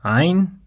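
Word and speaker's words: ع: lot of letters require the throat to pronounce them, and the next ones are of no exception. These are ayn and ghayn, two distinct sounds in Arabic.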